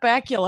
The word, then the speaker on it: Bakula: whenever anyone brings up scott bakula i always have to remind people that it rhymes with butt crackula i didn't have time